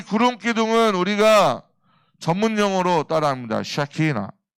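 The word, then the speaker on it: Shekinah: 샤키나, 셰카이나, 샤키나, 셰카이나. 발음 똑바로 해야 돼.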